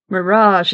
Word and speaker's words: mirage: I'm guessing it means a mirage and marriage Mirage is pronounced Mirage said VY shortly picking up her